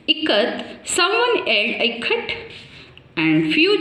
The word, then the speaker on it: ikat: I, how to pronounce here I as E.